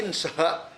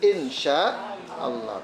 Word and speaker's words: insya Allah: Bukan SH insha. Bukan. Kalau SH itu sod dalam bahasa kita loh. SH itu sod. Maka masa insya Allah. Bacanya kan jadi gitu kalau di dalam bahasa Arab, kalau di SH kan. Jadi yang betul insya Allah. Tulis bahasa Latin INSYA. A-nya panjang ya, insya Allah.